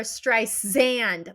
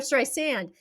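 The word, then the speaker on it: Streisand: talking to Siri and Siri kept saying Barbara stri xand like she wasn't saying it right I I read about that did you read about that so she went to like Tim Cook yeah and said it's sand Barbara stri sand and they B they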